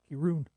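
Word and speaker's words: Kirin: Yeah, if it's Japanese, it would be pronounced Kirun.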